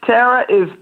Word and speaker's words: Terra: Am I pronouncing it correctly, TERRA or TERRA? Yes. TERRA? TERRA is right on point.